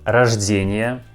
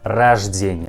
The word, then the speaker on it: рождение: Pay attention that word рождение has a second letter O, but we also pronounce this letter like A. Рождение, not рождение. We pronounce like рождение. Поздравляю тебя с днем рождения.